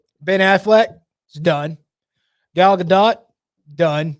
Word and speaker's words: Gadot: Gal Gadot, done. I believe it's pronounced Godot.